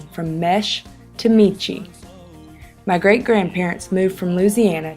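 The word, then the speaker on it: Meche: from M-E-S-H-E to M-E-C-H-E, as well as the pronunciation from Mesh to Michi.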